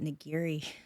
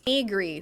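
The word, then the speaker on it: Nigri: of the most famous is pronounced it niri but I keep hearing people keep like pronouncing it other I don't know this other way negri who I don't think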